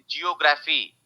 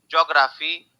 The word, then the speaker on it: geography: लोग प्रोनाउंस करते हैं, but this is actually pronounced as, ध्यान से सुनो, जियोग, जियोग, जी ऑग, जॉग, शॉर्ट मतलब स्पीड से बोलेंगे तो jog, okay, jog, र, आर ए र, फी, ज्योग्राफी, so this is pronounced as ज्योग्राफी, ठीक है।